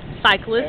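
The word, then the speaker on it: Psychlist: Cyclist. And the first part is spelled like psychology or psycho.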